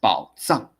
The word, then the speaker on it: 宝藏: 如果你念藏 it is a verb, it is an action. So you have to pronounce 宝藏 because 藏 is a noun.